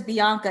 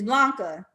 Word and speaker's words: Blanca: beyonce or blanca is it blanca she says bianca is blanca you know okay okay to be fair in the chat the i and the l look exactly alike okay i thought i was saying it right and y'all been telling me the entire time i'm saying it wrong it's blanca if there's anything you